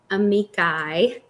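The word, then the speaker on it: amici: that there are 16 amikai is how you say it um that are being entered in to say like Amicus amikai octopus octopi yes fungus fungi yes um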